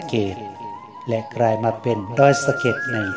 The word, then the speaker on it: ดอยสะเก็ด: ไซ้ ทำ ความ สะอาด แต่ เนื่อง จาก ว่า คน ล้า นา นั้น จะ ไม่ ออก เสียง รอ เรือ และ ร ลิง เมื่อ เขียน ตัว สะกด ตาม เสียง จึง กลาย มา เป็น ดอย สะเก็ด ดัง กล่าว ส่วน ตำนาน